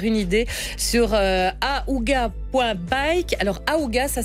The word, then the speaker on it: Ahooga: Alors, Aouga, ça s'écrit A-H-O-O-G-A.